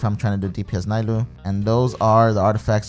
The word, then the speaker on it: Nilou: Nilou. Correctly. Nilou.